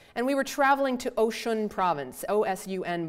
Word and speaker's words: Osun: And we were traveling to Osun province, O-S-U-N, but it's pronounced like ocean.